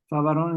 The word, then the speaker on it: Favaron: Favaron is spelled F-A-V-O-R-O-N, Favaron, Pedro Favaron.